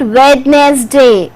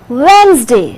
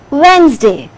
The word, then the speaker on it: Wednesday: going to say it wednesday it is wednesday d is silent only two syllables will be there wednesday similarly you are not